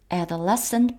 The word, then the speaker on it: adolescent: 그 어떤 adolescent prank, 이음절 강세입니다.